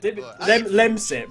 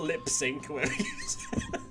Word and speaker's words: Lemsip: Lemsip, Oh. not lip sync.